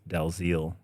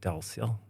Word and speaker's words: Dalziel: But in Norwegians tend to say Dalziel, which is Dalziel. softer, a bit closer to the intent. But is it French or no? It's Scottish. Yeah. So it has this extra silent letter, which used to be a yiel. Yeah. So I think in Gaelic you would say like Dalziel or something like that.